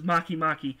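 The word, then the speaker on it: Makemake: Venus said that yeah Venus is makimaki and it and it's actually spelled m-a-k-e-m-a-k-e that's that's how it's spelled human is is an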